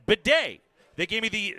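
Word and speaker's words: Badie: yeah and it said Beday they gave me the phonetically the the small B small a small H hyphen capital D capital a capital Y Bay is how you would say that Beday all right and phosis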